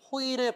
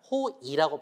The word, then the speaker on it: 호의: 하고 있습니다 그리고 호의 호의 베풀다라고 할 때도 호의라고 발음하지만 호이라고 발음해도 괜찮아요 자 그 다음에 조사